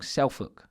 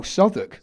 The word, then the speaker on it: Southwark: And I'm training with Frank Greaves now in, keep saying it wrong, Southwark, is that right? Self-walk, innit, on paper. Oh, Southwark.